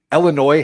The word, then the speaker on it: Illinois: Second of all, Illinois has a silent s.